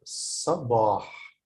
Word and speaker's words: صباح: Here you can notice the difference between here صباح here, because this is a short vowel, so I pronounce it like sab. But then I have a long vowel after the ba, which is alif, so I pronounce it صباح.